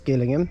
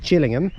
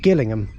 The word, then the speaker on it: Gillingham: just a moment okay so this station is Gillingham located in Dorset uh often when you hear the trains get announced here they it is pronounced Gillingham Dorset uh the reason is is because uh